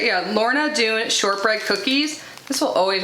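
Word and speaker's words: Lorna Doone: And last but not least, we have the Laura Dune, is that how you say it? Yeah, Lorna Dune Shortbread Cookies.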